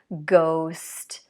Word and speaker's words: ghost: When we have GH, the G is pronounced, but the H is not. There are not many words like this. Ghost, ghetto, aghast.